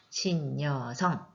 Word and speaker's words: 신여성: 그리고 신여성도 마찬가지죠. 앞에 있는 니은이 뒤에 있는 여를 만나 모음을 만나서 니은이 첨가가 됩니다. 신여성.